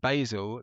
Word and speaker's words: Basil: And everyone everyone knows that uh Basil comes from is named after the fictional hotel owner Basil Faulty in Faulty Towers. So if you're creating a different pronunciation of uh Basil, you're being disrespectful to the proud tradition of 1970s British sitcoms.